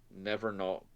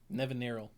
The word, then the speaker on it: Nevinyrral: So for example, in white we have Magus of the Disc, call back to Nevernal. Somebody else pronounce it. Nevinyrral.